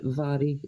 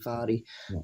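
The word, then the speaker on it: Mhairi: Yeah, even she says after it, it's actually pronounced Vary with the Vary. M. But it's my base mate's Mari as well. She calls herself Mari, but it's actually Vary that it would be pronounced properly.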